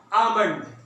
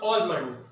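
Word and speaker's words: almond: आमंड या ऑलमंड, आमंड, ओमंड, ऑलमंड, आमंड, दोनों ठीक है। अमेरिकन और ब्रिटिश ये दोनों एक्सेंट है।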